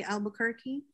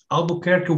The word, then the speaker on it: Albuquerque: vasco de gama and i'll pronounce it the american way albuquerque how do you and